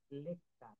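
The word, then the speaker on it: lecture: তারপর বলছে শব্দের শেষে শব্দে টি থাকলে, টি এর পরে ইউ থাকলে, টি এর উচ্চারণ টি এর মতো হয়, টি এর উচ্চারণ টি এর মতো হয়, প, যেমন চ হয়ে যায়, যেমন লেকচার, এখানে টি কিন্তু টি ইউ আর এ, এটার হওয়ার কথা ছিল লেকচার, কিন্তু এটা চ হয়ে গেল, লেকচার।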